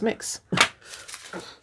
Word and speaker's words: Mx: mr for mr and it's pronounced mix like you're mixed i don't know if